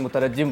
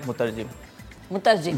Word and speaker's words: مترجم: ترجمہ کر رہا ہو، اس کو عموماً ہم لوگ مترجم بولتے ہیں جی۔ تو یہ کامن ایرر ہے، تو اس کا صحیح تلفظ صحیح لفظ ہے مترجم جی۔ تو یہ ایک